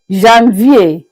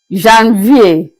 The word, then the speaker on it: Janvier: We began by saying that January is pronounced as Janvier, Janvier.